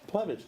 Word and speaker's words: Plevich: Plevich. Dude, I was close. I was pretty close. You just got to pronounce it the way it's Yeah.